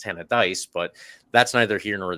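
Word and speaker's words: Tannadice: and I said Tanis I was worried that I was mispronouncing it uh as it turns out I was because it's t of dice but that's neither here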